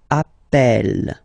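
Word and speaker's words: appelle: form Double L so when you get this a vowel and then you get a double consonant and well they are the same then it does change the pronunciation of uh you tend to pronounce it like e e really open that's the reason why you pronounce it Appel Appel okay Appel Appel Appel and Appel all right so as I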